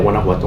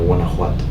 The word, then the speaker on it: Guanajuato: I'm from Celaya, Guanajuato, Mexico. Celaya, Guanajuato. How you say it? Yeah, Guanajuato. Guanajuato.